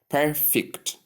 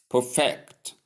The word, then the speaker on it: perfect: forgive me so notes it is simply pronounced as perfect if it is the adjective but if it's the noun I mean it's if It's the verb you say perfect. Perfect.